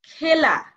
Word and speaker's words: খেলা: কি হচ্ছে তুচ্ছ দেখ তারপরে খেলা এখানে খেলা উচ্চারণ হবে না হবে খেলা তেমনি আরো আছে খেলা